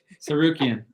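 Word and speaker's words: Tsarukyan: going up against Armen someone else want to try serukan thank you God that was really good the tea is silent and the rest is easy that was really good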